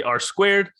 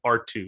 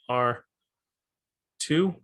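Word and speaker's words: ℝ²: would say something like r2 that's usually how they pronounce it so r uh r yeah r two is how you would pronounce this and just like that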